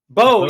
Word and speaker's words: Beau: Bo, yes, Bo. Yeah, it actually spelled like Beau.